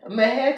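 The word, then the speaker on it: Mexia: Mex. How do you say it? Hold up. Hold up. Don't don't judge me. Mex, Texas. It's called Mahare. Mahair, Texas. Yeah. Mah. Okay. M E X I A.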